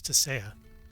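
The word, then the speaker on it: Tissaia: interesting I didn't realize that was uh you pronounced it a little differently he's a desire in The Witcher TV show it's tasaya it was uh Jennifer's mentor at uh artuza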